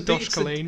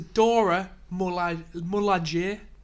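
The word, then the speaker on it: Dora Milaje: I keep I'm on It's saying the Dosh Colleen. It's the Dora Moulagier. Dora Moulagier. Dora Moulagier. Right, I keep on saying Dosh Colleen from Game of Thrones.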